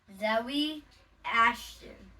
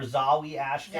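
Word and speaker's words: Zawe Ashton: The evil villain is played by Zoe Ashton. Zowie or Zawi Ashton. Zowie Ashton.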